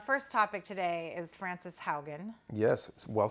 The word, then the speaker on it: Haugen: Our first topic today is Frances Haugen. Yes, well said. Did I say it right? Properly spoken, yes. Dude, I think you're the one that taught me it's like house. Haugen.